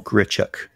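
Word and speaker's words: Grichuk: Um, look up the name Randall Gritic and it's I think it's spelled G R I C H U K. Randall Gritchuk.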